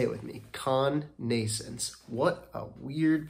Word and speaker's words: connascence: which is Con Nations say it with me con nasons what a weird pronunciation of that word and I double checked that is how it's pronounced cognasance all right let's get into it all right